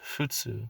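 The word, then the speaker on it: 仏: words introduced later on this kanji is pronounced futsu like in the word futsugo or french language on the other hand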